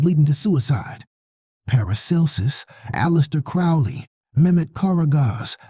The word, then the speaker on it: Crowley: She pronounced magic with a long A and Crowley with a long O like bird.